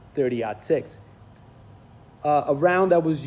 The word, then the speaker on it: 30-06: So, when you write it out, it's actually 30-06. But the correct way to say it is 30 odd six.